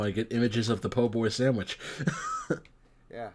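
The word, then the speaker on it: po' boy: a poor boy it is a PoBoy it is pronounced and spelled po boy I mean I know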